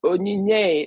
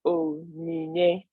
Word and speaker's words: Onyinye: So Onyinye, we pronounce by Onyinye.